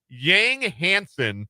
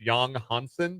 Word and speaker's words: Yang Hansen: My favorite pick of the night was Yang Hansen. It's actually pronounced Yang Hansen, but it looks like Yang Hansen.